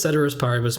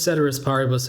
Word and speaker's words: ceteris paribus: we're talking about, so it doesn't really make sense to pronounce the C as hard in one but soft in another.